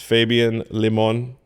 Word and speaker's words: Fabian Limon: This is Fabian Limon. That's how you say it.